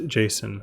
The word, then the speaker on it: JSON: popular serialization format is called Json pronounced Json which stands for JavaScript